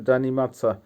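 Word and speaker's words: заниматься: করা ইংলিশে হবে রিমেম্বার উচ্চারণ হবে পৌমনিচ ভাব জানি মাদসা জানি মাদার অর্থ হবে অধ্যয়ন করা বা স্টাডি করা পড়ালেখা করা জানি মাদসা স্টাডি স্টাডি করা জানি মাদসা আবার বলছি উচ্চারণ হবে জানি মাদসা পড়ালেখা করা বা অধ্যয়ন করা বা স্টাডি করা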